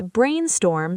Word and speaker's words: brainstorm: Let's brainstorm some ideas. Deep dive. Brainstorm. Stress both parts equally.